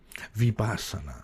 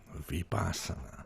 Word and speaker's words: Vipassana: So you start to get into meditation, and then in 2019, I want to say it correctly, Vipassana. Thank you. Vipassana.